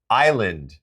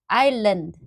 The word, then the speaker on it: island: Island. Island.